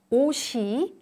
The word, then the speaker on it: 옷이: A consonant at the end of one syllable is pronounced as if it's at the beginning of the next syllable, when the next syllable starts with a vowel.